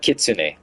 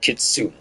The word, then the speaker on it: kitsune: But Kitsune. I was like pronouncing it Kitsune. Because the E. The E.